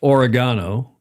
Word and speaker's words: oregano: never heard it pronounced oregano, which is, he says, how they pronounce it in Australia and I guess in the Commonwealth countries, because we pronounce it oregano. Have you ever heard oregano?